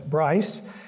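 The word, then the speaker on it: Brise: name probably should be briefs but we they have always pronounced it in Wisconsin as Bryce and so that's the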